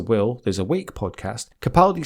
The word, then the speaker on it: Capaldi: Why would you ever think it was Capaldi? It's obviously Capaldi. Yeah, I mean, it's spelled sort of phonetically. Do you know what I mean? It's not difficult to say it.